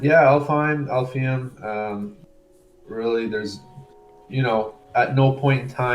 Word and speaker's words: Alfheim: It's most definitely Elfheim.